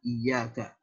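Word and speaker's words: إيّاك: Wa iyyaka dan kepada kamu juga kami meminta pertolongan. Para ahli qiraah sab'ah dan jumhur ulama membacanya dengan memberikan tasydid pada huruf ya iyyaka. Ini tasydid iya.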